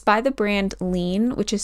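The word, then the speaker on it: Liene: It's by the brand Lean, which is spelled L I E N E, and they sell them on Amazon.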